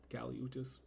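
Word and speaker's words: Kali Uchis: um number five is Fantasy by Kelly uchis Cali uchis u c h i s cises pronunciations are difficult I can read and yeah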